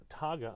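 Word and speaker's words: Taiga: you of the terra taga i'm sorry i think it's pronounced taga tara hemp cooler so this company is using hemp composite once again the name of the company is togga t-a-i-g-a canadian possibly i think if i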